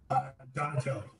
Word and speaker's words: Donatelli: And, I'm sorry, is it Donatel or Donatelli? I now know that I could be saying it wrong either way. Donatelli is what.